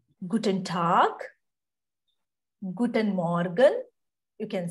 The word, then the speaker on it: Tag: it is see when whenever it is G comes end of the word you to pronounce like K good and talk K pronunciation you have